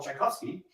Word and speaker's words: Tchaikovsky: much for Utah yeah in English the great composer we call Tchaikovsky and we spell it TCH and the great writer check off we sell CH but in Russian it's the same sound that's because check off